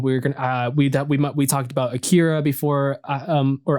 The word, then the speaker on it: Akira: When we're gonna we talked about Akira before, or Akira, it's actually pronounced.